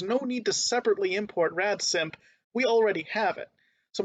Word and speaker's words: radsimp: up its sleeve and that's the uh function rad simp okay rad simp spelled like this r-a-d-s-i m presumably short for radical